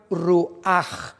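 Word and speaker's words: רוח: La palabra nepeg es diferente a la palabra ruash, que también se pronuncia ruaj con jmina en ch en el hebreo.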